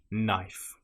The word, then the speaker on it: knife: If you have the letters K, N together in that order, again, you probably won't pronounce the K. A common example will be knife. It just starts with the sound N, knife.